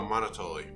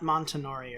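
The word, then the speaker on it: Monotoli: in existence is the how do you pronounce it again monotoly oh monotoly not not not montenori or whatever the i used to say all right so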